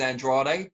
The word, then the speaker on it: Andrade: Usually, if a Mexican fighter's got that surname, it is Andrade. But for him, it is Andrade. Like, I've interviewed him and he said specifically, that's how you pronounce my name.